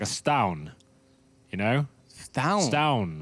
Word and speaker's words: Stavn: Oh, Stavin. Apparently it's pronounced like it's a silent B. It's like a stown, you know?